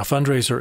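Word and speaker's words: Fundrazr: Now, fundraiser is spelled oddly. It's F-U-N-D-R-A-Z-R.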